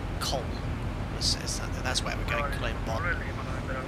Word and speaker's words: Köln: Is it pronounced Cologne in German? But they say Köln.